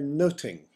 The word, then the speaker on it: nothing: There's the obvious Much Ado About Nothing, a storm in a teacup, a lot of fuss about very little. The word nothing would probably have been pronounced more in the way of noting in Elizabethan England.